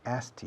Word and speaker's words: asked: Asked you. I asked him. Asked you. Asked me. He asked me. Como si fuera A-S-T. Asked. Asked.